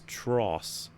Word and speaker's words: TROS: According to one of the ratings boards, the word ass will be used in TROS, which henceforth we shall pronounce as tross, as in atrocity.